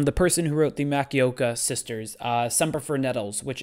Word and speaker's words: Makioka: Makioko, I think is how you say it. Makioka.